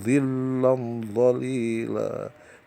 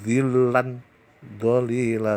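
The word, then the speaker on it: ظِلًّا ظَلِيلًا: Zilam dolila, yang ini saudara, yang ini yang terakhir ini zilam dolila, zilam dolila, cara bacanya ya, bukan zilan dolila, salah, zilam dolila.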